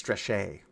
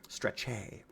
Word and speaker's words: Strechay: And it's Strechay. Strechay. Sounds really classy. I was like, Joe Stretchy.